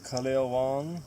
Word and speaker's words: Kaleo Wong: Would you pronounce the name of the boat also, please? Yeah, my name is Kaleo Wong.